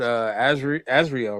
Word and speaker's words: Azrael: We're gonna jump all around, but before we get to the Smurfs individually, besides Smurfette, let's talk about Azrael. Right, that's how you pronounce the cat's name.